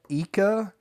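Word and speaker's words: Ica: So Lima, Eeka, Araquipa, Moa. You pronounced all those amazingly.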